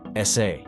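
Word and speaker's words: 사: the Korean word for the number four is pronounced sa which is also the pronunciation for the hanja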